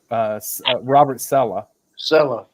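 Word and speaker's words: Robert Saleh: How do you pronounce his name? The Jets coach. Robert Sella.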